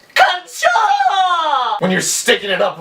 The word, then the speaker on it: カンチョー: So at the top here it would be pronounced ka-n-cho, kancho. But down here it's a little different. It would be ka-n-cho. You see? Ka-n-cho. You see that? That's the cho. So all together now you would say, KANCHO!